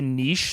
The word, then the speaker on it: niche: extend it yeah uh I learned that Americans pronounced Niche strange uh but that is almost entirely relevant to this conversation Niche what would you say nich yeah